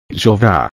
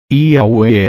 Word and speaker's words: Yahweh: É Yod-Heh-Vav-Heh ou pronunciado como Yahweh, Jeová, Yahvé, Javé. Yahweh é a pronúncia mais correta, segundo o erudito Rotterdam. O Deus e Pai de Jesus Cristo é Yahweh.